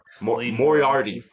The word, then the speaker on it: Moriarty: say it more already moriarty moriarty thank you yeah yeah it's actually said how it's spelled it's kind of weird